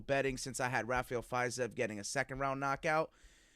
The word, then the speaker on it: Fiziev: Fiziev, yeah. Fiziev.